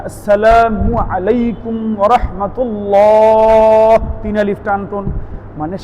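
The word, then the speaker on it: السلام عليكم: যেমন আসসালামু আলাইকুম। হামজা উচ্চারণ করা, সিন উচ্চারণ করা, মিমের পেশ উচ্চারণ করা।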